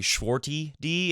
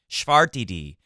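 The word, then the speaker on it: Schwartzman: Schwar TD Schwar TD someone commented below earlier that I was saying swart e d and that's not how you say it bro is basically what they said make it something like art is in the middle of the word so sharp d VAR TD now I sound Irish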